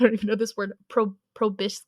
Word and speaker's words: proboscis: Behind the counter is a massive ant queen with 10 segmented limbs and large, I don't even know this word, proboscis.